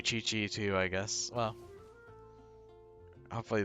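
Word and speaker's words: Qiqi: I pronounced it for Kiki for the longest time, but apparently it's Chi-Chi. I am forced to believe you.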